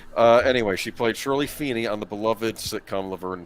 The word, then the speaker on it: Feeney: actress known best for playing the bubbly Shirley Finney on the Beloved sitcom it's pronounced Feeney and I know that's important because in the